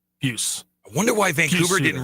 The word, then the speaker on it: Pius: because the Hockey Reference phonetic spelling is all capital letters PYOOS. So you're supposed to kind of hit it one syllable. Puce.